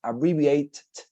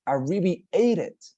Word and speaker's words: abbreviated: going to be pronounced it cannot be pronounced abbreviate because it's weird that is not english right it's super obvious how are we going to pronounce it for this case abbreviated as you can see we're using the other sound the same for this